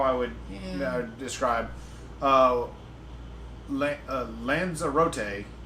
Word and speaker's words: Lanzarote: would describe uh uh Lanza rote is the preferred acronym from from the Spanish people uh that's the preferred pronunciation not acronym sorry man words okay um so preferred pronunciation from we way we got it from Spanish people the one uh British announcer that said the name said it uh lanzera like Maserati but lanzera so that's the that's